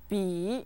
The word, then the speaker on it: 笔: 书包书包书包 The word for pen or pencil is 笔笔 is set with the third tone 笔笔笔 Say it with me three times 笔笔笔 Very good.